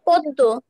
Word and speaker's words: পদ্ম: দাও তো বাবা স্যার পদ্ম পদ্ম কারেক্ট কিভাবে বুঝায়ে দাও সেটা স্যার যে এখানে ম ফালাটা পদ্মর শেষে আছে আর এখানে দুইবার দর উচ্চারণ হয়েছে কারেক্ট পরে আমরা যাচ্ছি